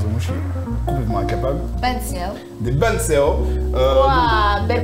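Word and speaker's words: bánh xèo: Banseo. Des banseo. Waouh, belle prononciation.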